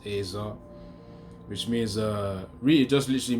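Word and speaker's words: ezer: If you check on it, it should be Azar, like E-Z-E-R, but it's pronounced as Azar, which means really just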